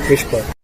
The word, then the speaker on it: WSPR: WSPR stands for Weak Signal Propagation Reporter, simply pronounced as Whisper.